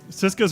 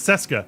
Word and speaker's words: Cesca: get to the hyatt cisco's running a tingling ha it's cesca i keep mispronouncing it that's fine it's it's spanish but uh i don't